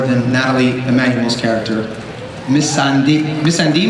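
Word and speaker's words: Missandei: Missandi, Missande, Miss Everybody got a different pronunciation for that. I know it's Missande.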